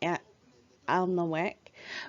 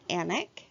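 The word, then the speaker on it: Alnwick: this is Anna castle I know it looks like ant on the wick but it's actually pronounced anak this is the photo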